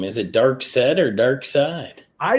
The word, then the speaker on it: Darkseid: people is the true first appearance of uh dark side forever people won yeah I'm sorry not to